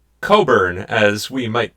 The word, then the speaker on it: Cockburn: Oh, well, he was focused on the name Coburn, as we might pronounce it here.